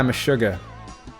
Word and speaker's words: Meshuggah: some other examples of this are bleed by meshuggah the sugar okay google how do you pronounce me sugar that's pronounced meshuggah animals by